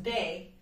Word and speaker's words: Beth: tree calendar, known by the Celts as Beth, Mm-hmm. pronounced Bay.